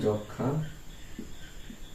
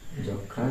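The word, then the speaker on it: যক্ষ্মা: ফলার উচ্চারণ হয় না যুক্ত ব্যঞ্জনে ম ফলার উচ্চারণ হয় না এটা আমরা উদাহরণ নিতে পারি যে আমরা বলি না যক্ষা যক্ষা একটি রোগের নাম তো যখন আমরা যক্ষা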